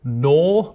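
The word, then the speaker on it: know: is weird take the word uh KN or no Once Upon a Time people genely did pronounce the k at the start of night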